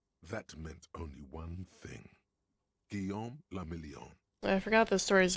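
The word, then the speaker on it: Guillaume Le Million: Guillaume la Million. I forgot the story is vaguely French. If it doesn't rhyme, you're not pronouncing it right.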